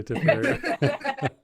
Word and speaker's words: Tipperary: She's from Tipperary, if I said that right. You did say it right. Yes, you did say Tipperary.